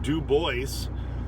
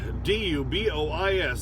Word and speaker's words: Dubois: that bothers me um d-u-b-o-i-s that's dubois okay it's french but i shouldn't be complaining in wyoming we have a dubois d-u-b-o-i-s which also should be pronounced dubois but wyoming were hicks